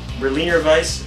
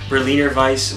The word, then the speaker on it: Berliner Weiss: As I stated, we're going to be reviewing Fuzzy Smack Berliner Weiss with Peach by Noon Whistle Brewing. And in fact, I believe that is how it's pronounced in the German way.